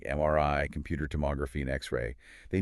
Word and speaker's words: MRI: You must spell out the letters individually. M R I. And the stress is on that final letter, right? M R I. The voice sort of goes up slightly at the end.